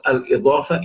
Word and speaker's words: al-Idaafah: The possessive expression is called al-Idaafah in Arabic. So this expression, the second category that we are talking about, right, is al-Idaafah. It is called al-Idaafah. And pronounce the dot properly, right? Al-Idaafah.